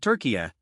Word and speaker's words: Türkiye: FIFA and Fox Sports are going with Türkiye, pronounced Türkiye.